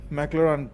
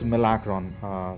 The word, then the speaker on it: Milacron: Had it been a little more, just a little more, probably McLaren could have got it done. I'm sorry, it's Milacron. Sorry to mispronounce the name.